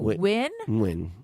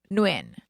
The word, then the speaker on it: Nguyen: Are we saying win? Nguyen. I think it's win. Is there am I pronouncing the N or no? I think I'm it's like so Joey. subtle. I think it's a very, very subtle.